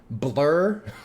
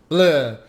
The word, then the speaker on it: Bleu: How do you say it? Blur? Is that... Sort of. Bleu. This is why the French probably hate You him. have to say it like from the back of your throat. Like cough. Like bend over and cough.